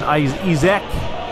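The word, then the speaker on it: Isak: Izek, that's how you say it.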